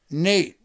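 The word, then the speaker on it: Noeth: Oh, Nate. He pronounced his name Nate. Okay. But it's N-O-E-T-H.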